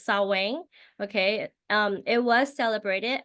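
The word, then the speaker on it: Samhain: I pronounce it right I think it's saang okay um it was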